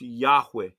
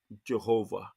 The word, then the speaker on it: Yahweh: the word except this word uh everybody's correct pronunciation is Yahweh not Jehovah in the original Hebrew language there was no